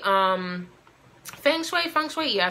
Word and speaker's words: feng shui: your sage your candles your incense a study Fung Shui um Feng Shui from sweetie I said it right so that